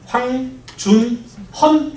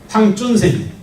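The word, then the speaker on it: 黃遵憲: 엄마들이 학교 다닐 때는 황준헌 이렇게 배웠어요. 그 놈이 이놈입니다. 요즘은 이렇게 발음하기로 했거든. 중국 발음 모르는 대로. 그래서 황준헌이 누구라고요? 황준센.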